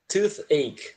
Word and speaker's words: toothache: A gente pronuncia tooth, tá? Esse último som, ele é chiado, tooth. É aquele som com a língua entre os dentes. E o ache, né? O A-C-H-S, pronuncia ache mesmo.